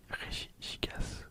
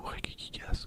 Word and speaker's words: Regigigas: Si on compte pas le Master Regigigas ou Regigigas ou Regigiga. À vous de voir comment vous prononcez.